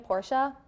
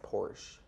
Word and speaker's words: Porsche: I thought it was pronounced Porsche. No, it's two syllables, Porsche. It's Porsche.